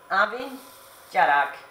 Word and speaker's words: Abhainn Dearg: Easton they makes you pronounce the name is pronounced Abby Garrick amici are having Garrick immersion I mean once